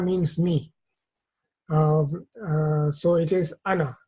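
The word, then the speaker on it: أنا: am and that means me so it is Ana not Anna that is an exception to the rule and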